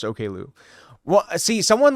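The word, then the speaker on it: Oklou: Yeah, it's pronounced Okloo. What? See, someone like when I one time I was like talking about the OKU record and someone tried gaslighting me into thinking saying it was uh Oakloo, Don't Tap the Glass, more of like a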